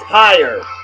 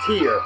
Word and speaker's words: Tyr: Tire. Or is it tier? I think it's tier. Metalheads, I know I'm pronouncing it wrong. I can't remember how it... TYR, I've heard it pronounced tier and tire. I think it's tier, though.